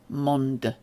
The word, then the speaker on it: mondd: You do have to pronounce the D doubly long. It's not yet automatic for me, but it sounds a bit like mond.